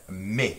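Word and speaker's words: mais: We even pronounce the word sometimes, many regions pronounce M-A-I-S, me, with that A sound. Some regions pronounce it with an S sound, like a short E, my friends up in Nova Scotia, and I think even parts of like Vermilion Fire, sometimes it's like ma, almost like an a sound.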